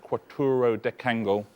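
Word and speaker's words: quattuordecangle: That's how you pronounce that, quattro decangle.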